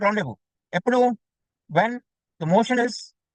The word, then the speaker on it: rendezvous: Pronounce ఎలా చేస్తారు spelling ఇలా రాస్తారు కానీ ZBOUS రాస్తారు కానీ it's pronounced as rendezvous. So that this section of the motion is called rendezvous.